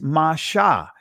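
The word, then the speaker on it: Moshe: her son, and she called his name Moses. In the ancient pronunciation of it is Masha.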